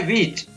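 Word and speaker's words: which: Next है विच, यहाँ पर भी H है वो साइलेंट रहता है।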